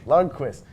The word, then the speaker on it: Lundqvist: Henrik, how do you pronounce his name again, guys? I'm Lundqvist. sorry. Lundqvist. Guys, I'm new to the hockey game. I'm learning the name. Lundqvist.